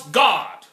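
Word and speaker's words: Gad: to Israel for serving God spelled G ad pronounce God the Father pronunciation is gaawd get have some Christmas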